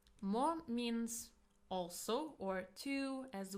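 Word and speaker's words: も: Mo means also or to as well. It is pronounced as mo and usually it comes after a noun.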